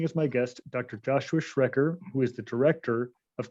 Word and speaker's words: Schrecker: pleasure of having as my guest dr joshua schrecker who is the director of clinical affairs at aegis sciences corporation i hope i pronounced your last name correctly josh that's perfect